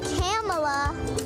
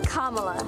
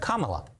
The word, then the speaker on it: Kamala: Senate she put out this video it's not camela it's not Camala it's not camela it's it's kamla kamla Harris well senator says she's used to